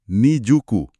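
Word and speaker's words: 新宿: Namanya juga Shinjuku, tapi bacanya Nijuku.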